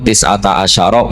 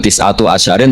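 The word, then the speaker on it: تسعة عشر: iku tetap atase neroko tisata asyaro utawi 19 tetap bacanya bukan tisatu asyarin tapi tisata asyar jadi kita tahu secara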